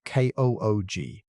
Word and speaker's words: Klug: The next year, in 2023, a group led by Christian Klug, pronounced KOOG, published a rebuttal in the same journal.